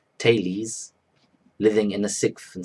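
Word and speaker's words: Thales: two Greeks my name's of tales pronounced talese living in the sixth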